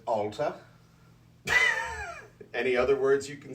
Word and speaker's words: Allta: you'd read that uh i pronounce that as alta any other words you